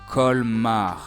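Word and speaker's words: Colmar: First, we have the letter C, which is supposed to be pronounced as C. That's our first sound, C. Then the vowel O co then L again followed by M col. And last a and r a a kar.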